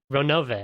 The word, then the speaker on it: Ronove: I was definitely a Ronove until I realized that it's actually kind of important that his name is 3 syllables long.